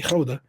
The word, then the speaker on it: Gouda: If you didn't know Gouda, we say Gouda is actually Gouda.